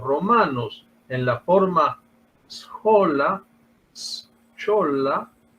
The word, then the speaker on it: schola: en la forma schola, schola, pronunciando un poco macarrónicamente, tal como se escribe, ¿no?